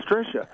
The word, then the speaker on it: Trisha: It looked like Trish is Ha-Ra. And it's Trisha.